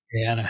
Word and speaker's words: Guyana: I was actually, by the way, trying to find cycling races in how do you even pronounce it? Guyana? Guyana, yeah.